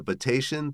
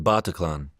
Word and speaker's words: Bataclan: And how do you pronounce it? The Batatian Theater Massacre happened? Dan was performing there with his band, the Arcs. Yeah, at the Bataclan.